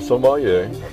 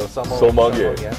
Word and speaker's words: sommelier: And I'm not a sommelier. Never taken formal training. Okay, that was going to be a question I was going to ask. So I have a difficulty pronouncing that word. So sommelier.